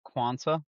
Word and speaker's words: Quansah: Jarell Quansah.